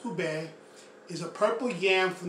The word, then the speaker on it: ube: UBE, pronounced UBE, is a purple yam from the Philippines with a mild sweet flavor.